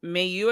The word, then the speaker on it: Mayu: So Sasha's next challenger is Mayu, I believe it is.